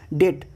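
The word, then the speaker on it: debt: दूसरा रूल है B before T is silent, T से पहले बी साइलेंट हो जाता है। अगर टी से पहले बी आ रहा, फॉर एग्जाम्पल डाउट, टी से पहले आ रहा, डेट, सबल, डेटर, डाउटफुल, तो यहाँ पे बी साइलेंट है।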